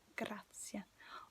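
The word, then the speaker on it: grazie: yes almost it's okay remember that e is e in spanish so it's like grazia of course there's italian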